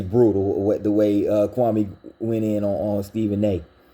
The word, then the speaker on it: Kwame: level that they're in kwame or excuse me kwame i gotta get it i have to get it right it's kwame brown stephen a smith it's kwame you can't even pronounce kwame brun you can't pronounce kwame you call him kwame it's just it's it's